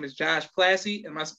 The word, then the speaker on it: Plasse: But his name is Josh Plasse. Am I pronouncing the last name correct? You're the first person to ever pronounce it correct in my life, man. Well done. Okay, Josh Plasse.